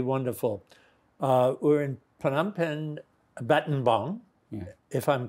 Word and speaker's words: Battambang: So on my visit there, which was so absolutely wonderful, we're in Phnom Penh, Battambang, if I'm pronouncing it correctly. Yeah, Battambang.